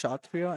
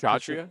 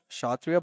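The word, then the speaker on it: Kshatriya: And did you know it's actually pronounced Shatria and not Shhatria? Yeah. It comes from Sanskrit. Oh yeah. It's actually called Shatria. But you you don't say the K.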